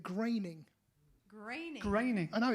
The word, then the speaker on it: Groening: and it looks like groaning would be in German. In America, they pronounce it graining.